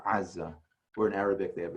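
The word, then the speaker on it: עזה: So if you were to say, I'm going to Gaza, which is Aza in modern Hebrew, you really should say Aza.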